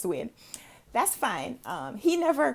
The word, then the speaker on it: Nguyen: his last name and we call him guian and then later i've been told it's pronounced to win that's fine um he